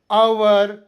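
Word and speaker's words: hour: ಎಚ್ ಇಲ್ಲಿ ಉಚ್ಚಾರ ಆಗುವುದಿಲ್ಲ ಅದೇತರ ಅವರ್ ಆನೆಸ್ಟ್ ಆನರ್ ಇಲ್ಲೂ ಎಚ್ ಸೈಲೆಂಟ್ ಇರುತ್ತದೆ ಸೈಲೆಂಟ್ ಕೆ ನಿಯಮ ಪದದ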